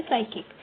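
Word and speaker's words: psychic: और है साइकिक, इसमें पी साइलेंट है।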